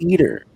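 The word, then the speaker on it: EATR: their own there's a robot called the eater which is spelled e-a-t-r which actually can fuel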